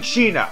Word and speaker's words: China: highlight characters first there's Kira papaya I mean China and yes that's how you pronounce her name I know how to